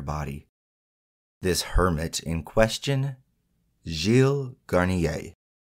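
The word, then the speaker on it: Gilles: this hermit in question Jil Garnier and that's spelled g i l l s and again I did look up that pronunciation because I thought it was gz but it's according to far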